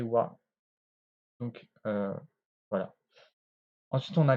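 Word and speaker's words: は: Ici, on peut voir que la particule wa, elle s'écrit avec le hiragana ha, mais elle va se prononcer wa.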